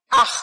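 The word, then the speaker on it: אח: Investigué la palabra en el hebreo y es la palabra ach, A-C-H. Aj se pronuncia.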